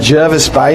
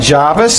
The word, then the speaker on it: Jervis Bay: I said Jervis Bay, not Jarvis. That's how you say it.